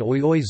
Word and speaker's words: oioi: In Japanese, aoi ching I, blue, green, and oioi zui, gradually, three and four syllables, and in Finnish, a